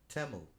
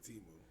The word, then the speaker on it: Temu: commercial with the to to the correct uh pronunciation temu it's it's pronounced temu actually teu that's what I've been calling it [ __